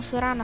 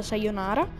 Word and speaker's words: sayonara: odio se io nara perché tutti quelli che dicono sovrana sbagliano si pronuncia sayonara oddio se stesso questo